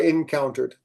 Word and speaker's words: encountered: Uh encountered. You don't have to say it all with um three. Yep. That ed is not an extra syllable.